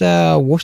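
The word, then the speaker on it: Worcestershire: Yeah, it's like wor chess chester. She like at the end they pronounce it as why is it not warester? I don't know. We just we just pronounce things weird over here. Winchesteress worshshire I I don't know how other people pronounce it I just pronounce it worshshire sauce shy anyone who knows what that reference is uh get yourself a gold medal but no it's pronounced worers just I don't know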